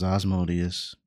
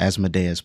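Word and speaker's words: Asmodeus: lord of the hell asod is how you say it I thought it was osmodius so yeah asadas but I was correct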